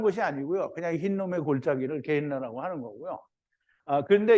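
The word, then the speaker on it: Γέεννα: 근데 이제 이거를 헬라어로 음역을 한 게, 소리 나는 대로 읽은 게 게엔나예요. 게엔나. 그래서 게엔나는 뭐 특별한 것이 아니고요. 그냥 흰놈의 골짜기를 게엔나라고 하는 거고요.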